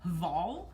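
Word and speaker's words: Hvoll: Actually, we have a couple sweaters for Abe, but this one is called, I'm gonna assume the H is silent, Voll, H-V-O-L-L.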